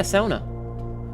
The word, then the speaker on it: sauna: Yeah, sauna. And yes, I pronounce it like a Finn.